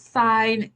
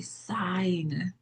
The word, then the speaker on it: sine: it looks like it's spelled sin because it's in short form, but the real word is actually sine.